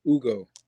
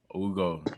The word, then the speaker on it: Ugo: do brother quick quick correction real quick it's pronounced Hugo Hugo okay man yeah okay you got you going